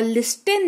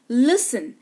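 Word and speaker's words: listen: एफ लगा हुआ हो तो टी साइलेंट होता है क्लियर ऑफ्टन नहीं ऑफेन सॉफ्टन नहीं सॉफ और लिस्टन नहीं लिसन दोनों ही स तीनों ही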